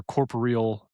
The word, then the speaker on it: corporeal: to make a patronis and not form your corporeal.